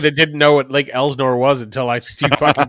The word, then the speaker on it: Elsinore: It's Elsinore, and that might be a region. It might be a regional thing, but it's gonna be fun, man. And I'm from the region that didn't know what Lake Elsinore was until you fucking said where it was.